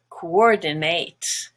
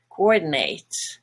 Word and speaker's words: coordinate: verb it's actually pronounced coordinate coordinate and the last part is no longer a schwa not but nate so actually that's the